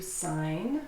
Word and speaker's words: sign: A sign or to sign a piece of paper. And notice the verb to sign has a silent G, but if it's a noun, signature, then you pronounce the G.